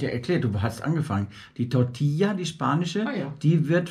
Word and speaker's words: Tortilla: Tortilla. Okay. LL wird immer I ausgesprochen.